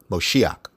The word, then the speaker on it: Moshiach: restore the Golden Age mosaic Moshiach that's how they pronounce it and you know the